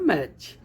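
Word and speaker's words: match: बिल्कुल easy concept है जब भी टी के बाद न या टी के बाद सी एच आ जाए तो आप टी का उच्चारण नहीं करेंगे टी साइलेंट लेटर की फॉर्म में हो जाएगा जैसे यहां पे चार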